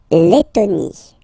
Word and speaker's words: Lettonie: So remember when you get this E and then a double letter like that, T, okay, then you will have to open your E and it will become E, Lettonie. La Lettonie.